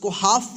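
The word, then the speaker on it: half: WhatsApp वही सीखेंगे हाफ पढ़ेंगे हाफ नहीं पढ़ेंगे यहां पर जो है ना एल साइलेंट है इस वर्ड में भी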